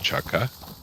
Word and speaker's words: chaga: nikki about the chaga i believe it's uh c-h-a-g-g-a chaga a lot of the times you hear most people it is spelled with g's but a lot of times you hear a lot of people call it chaka a lot of people do spell it with two gays i'm not sure if that's acceptable or not like i mean if it's you know like a tomato tomato thing but and they only